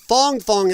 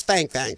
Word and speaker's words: Fang Fang: It's pronounced Fong Fong in her language, but in ours, it's Fang Fang. Sorry. Sounds better.